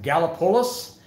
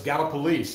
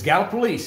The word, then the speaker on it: Gallipolis: the best one because everybody says is it gallopolis is it uh gallipolis galapalos and no it's gala police and they go well it doesn't look like